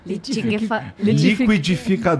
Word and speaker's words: liquidificador: Quais são as palavras que pra você é difícil de pronunciar em português? Em português? Tem umas... litigavacador. Liquidificador.